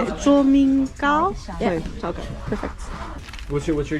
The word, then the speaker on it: 崇明糕: 卓明糕?